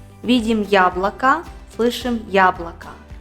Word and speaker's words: яблоко: видим яблоко высшим яблоко безударное я также как и безударная и произносится и слове месяц на месте буквы я мы говорим и и слышим звук и так как второй слой безударный месяц а в слове яблоко мы отчетливо узнаем звук я потому что ударение падает на первый слог правило номер три ударная